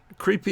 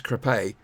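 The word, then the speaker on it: Crépy: it's true it is creepy an island that's not quite how they pronounce it is crepay but you know that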